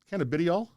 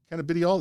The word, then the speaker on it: cannabidiol: out that canada how do you say that canadial cannabidiol is cbd anyway cbd is a major here's